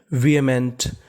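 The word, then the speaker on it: vehement: वी क्या पढ़ेंगे वी और इस मीनिंग में हमें एच का उच्चारण नहीं करना हमें खाली ए का उच्चारण करना है वी ए एमई एनटी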